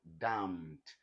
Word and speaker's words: damned: What you now have here is what? Damned. The N is voiceless.